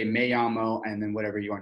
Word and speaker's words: llamo: but it's spelled M-E, and then llamo, which is, I guess, if you said it phonetically, it'd be Y-A-M-O, but it's two L's, Yamo and then Jesse.